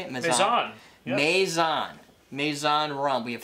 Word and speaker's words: Mezan: Mezan.